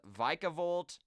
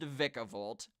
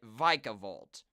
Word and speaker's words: Vikavolt: and say it's pronounced vicavolt I'm just going off of what the anime says they pronounce it with a long I there so I'm calling it vikavolt okay just saying that